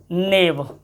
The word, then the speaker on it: knave: और देखो KNIFE नाइफ, नाइफ मतलब होता है छुरी, नाइफ में के है लेकिन साइलेंट रहेगा, नाइफ हो गया। और नाइफ के बाद देखो KNAVE नेव, नेव मतलब होता है बेईमान, कोई व्यक्ति अगर